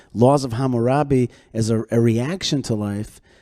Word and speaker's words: Hammurabi: What you're saying is that, of course, there's resonance with the Hammurabic code, right?